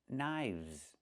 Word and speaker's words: knives: One knife, two knives. Again with the VV sound plus the Z sound like in zebra. Knives.